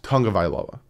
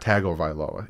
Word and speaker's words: Tagovailoa: ningamaya lapolei tangavayaloa his full name but it's tongue of iloa with an n but there is no end in there it's tonga not tagovailoa it's tongue of eila uh and yeah so